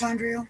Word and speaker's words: mitochondrial: What's it how's that pronounced? Mitochondrial.